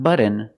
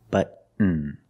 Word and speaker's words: button: like cotton candy button button not button it's but um stop T and fall to the end but um push a